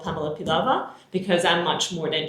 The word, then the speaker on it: Pilava: Pilava.